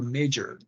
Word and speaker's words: major: Don't confuse the pronunciation of the word major, which means specialization, and mayor, which is alcalde. Okay. That is important to understand because the ch and the y are different.